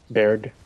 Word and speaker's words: Baird: That's how you pronounce it. Baird.